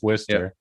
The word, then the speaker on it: Worcester: we have a town um in massachusetts called worcester yeah that's how we pronounce it here it's worcester yeah but how do you pronounce it there